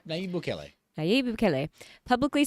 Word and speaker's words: Nayib Bukele: Its president, Nayib Bukele, did I pronounce that right? Yeah, Nayib Bukele.